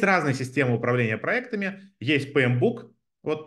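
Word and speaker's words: PMBOK: системы управления проектами есть P Book вот Неважно как оно пишется читается это P Book Project Management Body of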